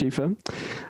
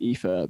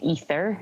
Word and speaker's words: Aoife: If I say my name, lots of people say Ether and Aoife.